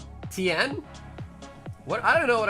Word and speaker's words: Tien: You said Tai Shen? Yeah, I don't know why. Maybe I was thinking of League of Legends. Shen from League of Legends, maybe. Say Tien again? Yeah, I know how to say his name.